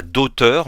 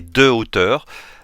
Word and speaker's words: hauteur: On ne dit pas d'auteur, mais de hauteur, puisque le H de ce mot est un H aspiré.